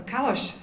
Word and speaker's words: Kallos: Also, we are honored today that Council Member Ben Kallos, or Kallos, as I just learned today, might be the very right pronunciation, is with us, and